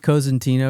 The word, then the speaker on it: Cosentino: I pronounce it Cosentino because it's Italian.